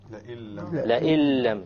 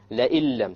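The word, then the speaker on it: لئن لم: And when we have this, then we drop out the noon and we pronounce it with the hamza immediately merges with the lam, and that is why we call it an idgham.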